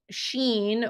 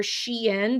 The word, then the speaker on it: Shein: And currently, right now, this fast fashion retailer called Shein or Shein, depending on how you say it, Shein, they are kind